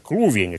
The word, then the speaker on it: Клувени: Что касается этой русской надписи, о которой говорил Божидар Трифонович, то она действительно начинается не с буквы «С», а с буквы «К». Значит, читается так. «Клувени».